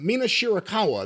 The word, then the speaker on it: Mina Shirakawa: the finish of May versus Cameron with the postmatch with Sera and Mina uh Mina shirakawa that's how you say it kiss kissy girl